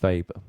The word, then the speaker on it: Weber: called vapour's law okay weber was german so you know you see it written as a weber the the correct pronunciation is weber so weber's law in